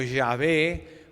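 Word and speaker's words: Yahweh: llamamos en el hebreo que nosotros tratamos de pronunciar como ya ve o más latinizado lo llamamos jehová que no sé por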